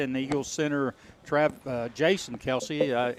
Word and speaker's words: Kelce: The Chiefs tight end Travis Kelce and the Eagles center Jason Kelce. Is that the right pronunciation? K-E-L-C-E. Yes, Kelce.